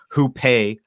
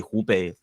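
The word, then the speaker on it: 湖北: read some things and see like um who pay or spell who pay but it's actually supposed to be hubei just like um it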